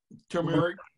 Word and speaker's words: turmeric: Turmeric.